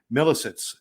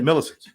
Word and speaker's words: Milisitz: Milisitz. Did I say it right? Yes, you did. Milisitz.